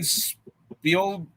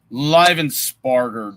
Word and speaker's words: Livensparger: Livensparger, that's how you say his name.